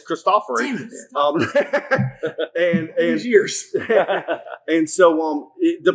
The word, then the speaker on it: Cristofori: So right, but when the piano was first born by Cristofori, and that's how you say his name, I learned that at a PTG convention. It's not really? Yeah, it's not Cristofori, it's Cristofori.